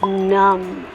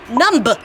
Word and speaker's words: numb: you mean that it's numb numb numb you don't need to say the b the B is silent so let's work on